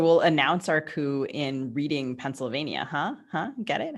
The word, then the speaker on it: Reading: lithub right so we'll announce our coup in reading pennsylvania huh huh get it huh it's pronounced redding if i say it's reading whitney it's reading